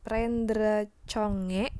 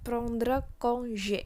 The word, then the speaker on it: prendre congé: Kita nggak mengucapkannya dengan prendre congé, tapi prendre congé. Sebagaimana tadi huruf G diucapkan dalam bahasa Perancis, yaitu J. prendre congé.